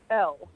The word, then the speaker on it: Elle: L, like the letter. L. Okay. Yeah, L. Like E-L-L-E, like L-E, but you just pronounce it L.